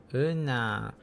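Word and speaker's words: 은하: Un ha. Un ha. So un ha. Oh no. I want to see how it could be. Una. Oh wait. Una. The H is not pronounced.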